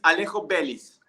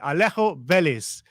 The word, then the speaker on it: Alejo Veliz: The correct is Alejo Veliz. Okay, Alejo Veliz. That's correct.